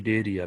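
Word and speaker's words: Cnidaria: phylum सिल टेटा और इसे डेरिया भी कहते हैं यहां पर सी साइलेंट है बेटा डेरिया सिलेट का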